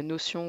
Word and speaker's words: Notion: peut St mondday euh notion ou notion si on le prononce à la française ou à l'anglaise peut aussi se rentrer